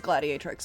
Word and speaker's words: Gladiatrix: Oh, yeah, no, that is actually the proper, how do you pronounce that, though? Yeah, it is Gladiatrix.